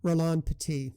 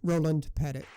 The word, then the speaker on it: Roland Petit: more example French choreographer Rolan petite 11 Labs pronounced it with a proper French pronunciation rather than the English Roland Pettit in other cases I